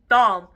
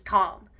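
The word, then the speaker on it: Thom: t h o m kind of looks like Tom but I believe it's pronounced as Tom so I think it's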